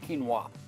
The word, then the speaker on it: quinoa: it's pronounced Keen like ke n w w Quin wa is how it's pronounced so again I I I've done so